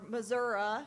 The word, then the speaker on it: Missouri: Klippenstein grew up on a beef cattle farm in Missouri, or Missouri, as I'm told it's pronounced by the locals.